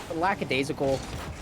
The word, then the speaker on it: lackadaisical: Both teams, it's just lackadaisical. I always pronounce that word wrong, so if I did, you're right. That's right. Okay. Because usually, I think Americans throw an extra S in there somewhere.